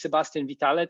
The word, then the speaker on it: Sebastien Vitale: I am so basically my name is Sebastien Vitale in case you were wondering how to pronounce it I'm a senior developer